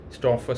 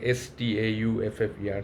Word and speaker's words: Stauffer: One of them, which worth mentioning, is Stauffer syndrome, where there is a liver dysfunction is seen in these patients of the renal cell carcinoma.